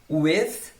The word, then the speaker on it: with: A pronúncia desse TH aqui, ó, é bem importante também você ver na minha boca, with. Você pode também colocar a língua no meio dos dentes, with.